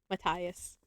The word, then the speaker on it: Matthias: But I know that's how it's said. Matthias.